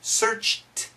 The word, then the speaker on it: searched: So perfect pronunciation, searched for, searched. It's going to be a t sound, searched for.